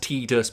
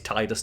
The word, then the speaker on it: Tidus: Um, I know it's pronounced Tedus, but it's Titus to me.